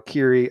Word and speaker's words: Kiri: named this person Kitty I thought k-i-r-i but the way they pronounce it it's like kitty I think spider is